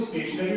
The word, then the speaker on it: stationary: This is STATIONARY, इसको भी स्टेशनरी बोलते हैं, और STATIONERY इसको भी स्टेशनरी बोला जाता है, यानी कि लगभग दोनों का प्रोनाउंसिएशन सेम ही होता है।